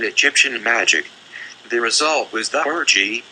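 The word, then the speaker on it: theurgy: magic the result was the orgy pronounced the orgy this new art which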